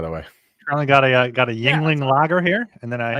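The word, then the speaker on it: Yuengling: It's not spelled like how you would pronounce that.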